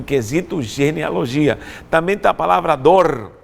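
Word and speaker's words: דור: genealogia também da palavra dor dor não é dor de dor alguma coisa mais sempre se pronuncia a dor dalet Vale com pontuação para o e o resto dor que se refere à geração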